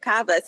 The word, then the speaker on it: KABAS: I've been saying Kbas for years. I like that power. So, I'll take it. Kabas is good.